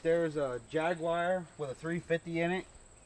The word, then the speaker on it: Jaguar: fun of me because I say jaguar I put a video of an XK 120 up the other day and they were like It's pronounced Jaguar well where I grew